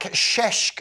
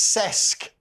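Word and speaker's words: Šeško: New boys lack sheshk appeal. Now, in the old days, and by old days, I mean at the beginning of last week's team talk show, we were pronouncing this ces Benjamin Cesco.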